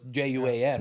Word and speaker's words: Juan: In Canada, they don't know how to pronounce Juan, Okay. right? So it's Juan, right? If you sound that out, it's like Juan, Yeah.